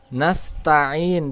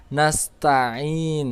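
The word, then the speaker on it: نستعين: Bertasbih jadi harus jelas wa iyyaka nasta'in disitu adalah huruf Ain maka bacanya nastain Ya jangan nasta'in kalau nastain itu hamzah Jadi bacanya huruf Ain jadi iya kena budu wa iyyaka nastain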